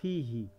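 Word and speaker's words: فيه: বলেন ভাই কিতাবু আর ফিহি তো ওই আসলে ওখানে হা হতো না ফির জন্য হি হয়ে গেছে ওইটা হা দিয়া হ্যাঁ হ্যাঁ ওইটা তো জি ওইটা হলো মানে উচ্চারণের সুবিধাতে ফি প্লাস হু জি কি হু হবে না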